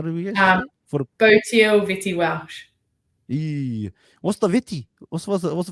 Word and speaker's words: Botille Vette-Welsh: How do we get Botille Vette-Welsh.